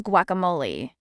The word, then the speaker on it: guacamole: of the soul and of humankind the correct pronunciation of this word is guacamole guacamole guacamole a Mexican deep mate for mashed